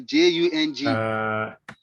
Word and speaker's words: Jung: They young is a ball, and then it is spelled the Jung. Yeah, Jung.